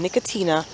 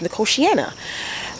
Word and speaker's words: Nicotiana: not looking happy and then we have these nicotianas i call them nicotina the first time and nobody corrected me guys